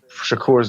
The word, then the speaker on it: Shakur: I think this entire time we've been saying Shakur's name wrong. It's Shakur.